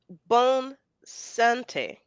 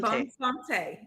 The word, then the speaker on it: Bonne Santé: to be penetration that's good to know um bone Sante Sante bone Sante yes Sante okay I've been saying it wrong